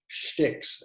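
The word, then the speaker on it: stich: two what's what are called sticks schticks as actually technically how it's pronounced um and you have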